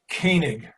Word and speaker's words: Koenig: I don't know why how do you pronounce your last name? Koenig. Koenig. Okay. Koenig. Von Koenig. It's a German name.